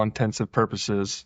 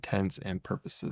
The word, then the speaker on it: intents and purposes: I am surprised because I always said all intensive purposes it says that it is a common misspelling and mispronunciation of the phrase for all int intents and purposes well for all intents